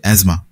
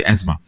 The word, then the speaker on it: asthma: তো তার নাম হচ্ছে অ্যাজমা এটাকে অনেকে এস্থেমা বলেও জেনে থাকে কিন্তু এর আসল যে উচ্চারণ সেটা হচ্ছে অ্যাজমা তো এই রোগটা রোগটা